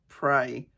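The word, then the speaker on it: Prai: I'm going to use a little bit of my, I think it's pronounced Pray, P-R-A-I, neck cream.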